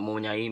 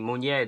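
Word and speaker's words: Meunier: I didn't even say his name right, not Munyain. Munier, the right back, he's very underrated for me.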